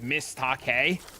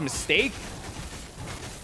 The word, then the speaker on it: MS_TAK_E: Oh, there was a viewer that I had forever, and their name was MS_TAK_E, so I thought it was Miss Take. And I found out like years later that it was actually pronounced mistake.